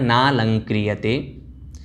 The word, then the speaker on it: नालंक्रियते: नालंक्रियते, आपको यहाँ पर बोलना है नालंक्रियते।